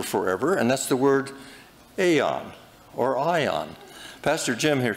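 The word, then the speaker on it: aion: Now, in the New Testament, there's a word for forever, and that's the word aeon or ion. Pastor Jim here can probably tell me how to pronounce that.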